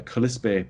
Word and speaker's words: Kalispel: Kalispell is a mistranslation, a mispronunciation of the Kalispé people, which or Ponderay, so we were in Kalispell.